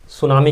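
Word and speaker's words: tsunami: हम पढ़ने वाले हैं सुनामी के बारे में जी हां दोस्तों वह सुनामी जिसमें साइलेंट है साइलेंट होता है इसमें यह क्लास सेवंथ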